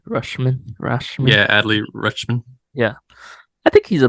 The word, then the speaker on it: Rutschman: Yeah, Adley Rutschman.